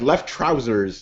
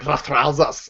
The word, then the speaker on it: Luftrausers: Because people have it go like left trousers. Luftrausers. I think it's supposed to be like fake German, so you say like Luftrausers.